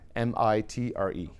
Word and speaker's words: MITRE: is human intuition mitre mi tre mitre yeah it's called the mitre attack Fremont and it's spelled just like that at the top